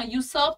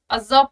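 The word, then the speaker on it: usurp: यहाँ प्रोनाउंसिएशन ध्यान देना, यूसर्प नहीं पढ़ोगे, अजर्व पढ़ते हैं, अजर्व, अजर्व, यूसर्प नहीं पढ़ते, ठीक है।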